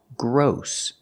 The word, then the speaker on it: gross: this word is pronounced gross it's spelled with OSS but it has a different pronunciation we're using the long o like no and go o gross gross and